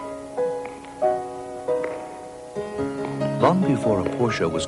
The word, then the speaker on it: Porsche: porsche and uh garden porsche is spelled g-a-u-d-i-n but pronounced god in fortune like g-o-i-d-i-n and porsche actually should be pronounced as two syllables there you go so